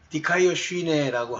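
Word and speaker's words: δικαιοσύνη: 여기 발음하는 방법도 나왔죠. 리카이오슈네.어요 요 뒷부분은 이제 여러 가지 변화여서 변할 수 있으니까 디카이어슈네라고 하는 것이 의입니다. 의. 근데 이것은 단순하게 도덕적인 오음이나 이런 것이 아니에요. 여기 말하는이 디카이어스네라고 하는이 단어의 의미는 하나님이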